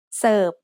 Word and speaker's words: เสิร์ฟ: But since for fun makes a P stop for a final sound, we pronounce this serve instead of serve.